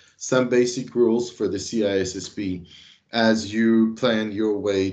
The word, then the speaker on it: CISSP: For those of you that have difficult times pronouncing it right and call it CISP, bear in mind that in my ears, it's painful to hear the word CISP and not the right one, which is CISSP.